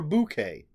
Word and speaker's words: bouquet: Today I am talking about a Bouquet of Viscera by Bridgett Nelson, or a bouquet. I looked it up just to see, and the dictionary had it both pronunciations, bouquet or bouquet.